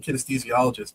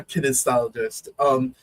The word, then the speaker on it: kinesiologist: I'm saying kinesthesiologist, but I think I'm adding a syllable in there.